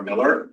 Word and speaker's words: Mueller: We're in the Miller community, depending on how you pronounce it. I chose Mueller. I'm going to identify as Mueller Boulevard.